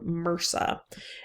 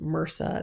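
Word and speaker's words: MRSA: um so we're going to talk about um Mera and that's how this word is pronounced Mera that's methylin resistant stakus orus so let's let's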